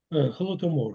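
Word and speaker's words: Holodomor: Am I pronouncing that right? Hold them. Hold them. Is that is that right? Holtomore. Yes. is I would like to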